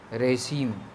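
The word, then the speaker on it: regime: रेशीम, प्रोनाउंसिएशन ध्यान दीजिएगा, रेशीम है, रेजिम नहीं है, रेशीम, REZIME, रेशीम, ठीक है।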